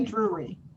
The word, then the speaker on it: Drury: Say it for me. Say Drury. Drury. Drury. Yes. See, I was saying it like that at first, and Dr. Bolden told me I wasn't saying it right.